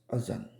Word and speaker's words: adhan: Today we'll be talking about the call to prayer or adhan, sometimes pronounced azan.